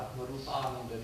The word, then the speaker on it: Atmarupananda: My name, Atmarupananda, or Atmarupananda to give the Sanskrit pronunciation, non-Americanized Sanskrit pronunciation, means, not because that's